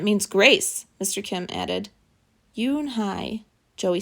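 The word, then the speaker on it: Unhei: then to joey she nodded slowly yes it's pronounced yoon hai and it means grace mr kim added yoon hi joey said slowly and this time perfectly i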